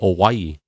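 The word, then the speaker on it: Owyhee: Oregon called o it's it's spelled old w a o w y o y h e so they say awaii and the reason why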